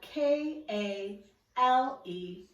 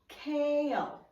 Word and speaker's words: kale: kale kale is spelled k a l e however it does sound like two syllables when we pronounce it k o kale kale kale this is